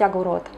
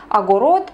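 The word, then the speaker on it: אגורות: На самом деле, если правильно произносить по-русски, то скорее всего это будет звучать как 10 агур, потому что в единственном числе звучит как 1 агура. Но в иврите во множественном числе это звучит как агурот, поэтому практически все, даже говоря по-русски, все произносят именно 10 агурот, 20 агурот и так далее.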